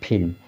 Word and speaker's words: film: तो फिल्म यहाँ पर उच्चारण हो रहा है ला का, यल का। ठीक है, तो ये क्या है, इस रूल के अपवाद हैं, ये वर्ड क्या है, अपवाद है, जो कि यम से पहले यल आने पर यल साइलेंट रहेगा, लेकिन हमने बताया, लेकिन यहाँ पर यल का उच्चारण हो रहा है, यल साइलेंट नहीं है।